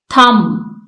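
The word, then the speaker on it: thumb: इसमें जी साइलेंट है थम इसमें बी साइलेंट है नेम इसमें ई साइलेंट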